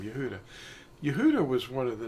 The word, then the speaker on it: Yahudah: This man existed under another name, and it's Yehudah. In fact, the name Yehudah, I'm going to show you what that is spelled like in English.